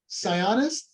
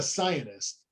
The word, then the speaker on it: psionist: very he was a psionist ms santa right sianist yeah scientist how do you say that word mike i don't know p-s-i-o-n-i-s-t scionist yeah not a scientist that's not no yes